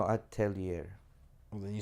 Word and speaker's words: Atelier: Altier. No, Atelier.